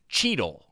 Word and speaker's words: Cheetle: The Cheetos dust internally is canonically referred to as Cheetle. So that's true. Cheetos dust they call Cheetle. Like Don Cheadle, but spelled with a T.